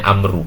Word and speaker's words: Amr: wa-an Abdullah Ibnu Amr kalau ada baunya ini Amber kalau dia jadi bacanya Amru Hai jadi Abdullah Ibnu